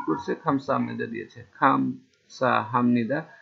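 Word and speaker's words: 감사합니다: পাশের ব্যক্তি কি করছে খামসা হামনিদা দিয়েছে খামসা হামনিদা এখানে হামনিদা হবে কেন বিয়ব নিচে থাকলে এরপরে নিয়ন আসলে বিয়ব নিচে থাকলে এরপর নিয়ন আসলে বিয়বটা ময়ের মতন উচ্চার হবে এই জন্য খামসা হামনিদা মানে ধন্যবাদ আর এরপর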